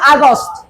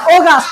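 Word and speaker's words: August: সেই মেই ডেই ওকে আমরা বলি আগস্ট আমরা কি বলি আগস্ট আগস্ট উচ্চারণটা কি হবে ওগাস্ট উচ্চারণটা কি হবে অগাছ কেন উচ্চারণটা ওগাস্ট হবে কোন ওয়ার্ডের শুরুতে যদি এ ইউ থাকে কোন ওয়ার্ডের শুরুতে যদি এও থাকে উচ্চারণ কি হবে ওগা ও হবে কি হবে ও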